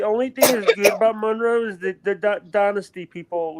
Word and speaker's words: Monroe: shocks no it's Mon Monroe it's Monroe like the shocks it's Monroe yeah Monroe